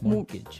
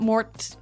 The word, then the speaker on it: mortgage: with a t yeah it has a t in it but you don't pronounce it you say mortgage morgage so not Mort mortgage not mortgage morgage